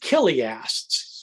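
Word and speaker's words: chiliast: people um we're called killiasts spelled with a c-h c-h-i-l-i-a-s-t killiast which is the latin form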